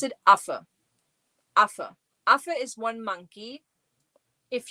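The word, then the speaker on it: Affe: And so yeah, you pronounce it af.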